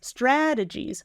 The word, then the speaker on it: strategies: are lots of different strategies syllable stress strategies strategies and there are a